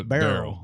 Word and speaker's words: Beryl: It's like Daryl. It's Daryl, but it's Beryl.